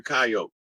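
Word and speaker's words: Kiote: whose totem is the coyote and it's it's um it's spelled that way and it sounds like coyote or coyote but it's a tribe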